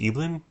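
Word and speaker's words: Eibhlin: the remarkable life of is it pronounced Elin sure eblin e i b l i n um it's a story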